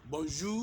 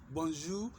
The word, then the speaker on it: bonjour: we have only two ways of greeting okay bonjour that is it I have not created any